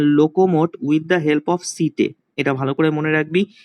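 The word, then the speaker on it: setae: আর এদের লোকোমোটারি অর্গানের নাম হচ্ছে সিটে, প্রোনাউন্সিয়েশনটা ভালো করে মনে রাখবি, সিটে, ACTAE, সিটে, ঠিক আছে, এটা ভালো করে মনে রাখবি, ভেরি ভেরি ইম্পর্টেন্ট।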